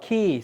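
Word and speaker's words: Quay: How do you spell it? QAY. Key, sorry.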